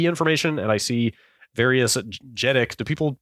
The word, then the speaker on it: JEDEC: If I use a utility like CPU-Z, I can see the SPD information, and I see various JEDEC. Do people pronounce it that way? JEDEC, yeah.